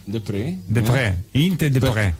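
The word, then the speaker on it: Deprez: To avoid a possible mistake, can you tell us how we should correctly pronounce your real name? Yinte. Yinte, all right. Yes. Yinte de Pré? De Pré.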